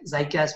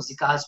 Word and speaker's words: ZiCAS: इसकी लोग different pronunciation इसको यूज करते हैं, लाइक ज़ाइकास भी कहा जाता है, इसको ज़िकास भी कुछ लोग कहते हैं.